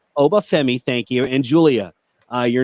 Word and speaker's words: Oba Femi: How do you pronounce his name? Oba Femi. Oba Femi, thank you, and Julia, your new your new champions.